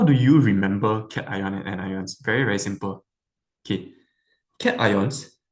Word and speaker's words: anions: Okay, next one, anions. What does anion like rhyme with? Maybe like onions, right?